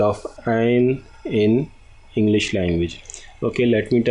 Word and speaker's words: ع: Ain. Okay. Ain. Ain. Okay. In English, it is pronounced as Ain. Ain. Aen. Ain.